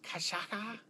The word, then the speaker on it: cachaça: It's uses cachaça.